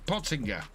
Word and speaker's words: Pottinger: The G in give potting potting g give yeah pottinger I will say carting